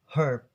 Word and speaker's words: herb: In Americans, they pronounce it herb. So the H is silent, but in British accents, it's will be pronounced it really clear, like herb.